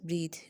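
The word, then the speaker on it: breathe: वाला है that is ब्रीद यानी बी आर ई ए टी एच ई यह वर्ब है आपके पास और इसको प्रोनाउंस करते हैं ब्रीद पहले वाला ब्रेथ और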